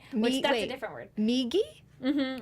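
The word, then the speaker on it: みぎ: And to the right is migi. Migi. M-I-J-I. Did I say it right? Yeah, and well, it's M-I-G-I. So, migi. Migi.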